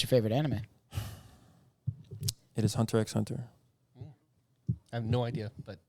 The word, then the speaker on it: Hunter x Hunter: favorite anime it is Hunter x Hunter I have no idea but Chris Dude any words uh it's just pronounced Hunter Hunter but yeah um Hunter